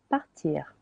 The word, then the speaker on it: part: Partir. Partir. Je pars. Silent S. Je pars. Tu pars. Silent S again. Tu pars. Il, elle, on part. Il, elle, on part. Silent T.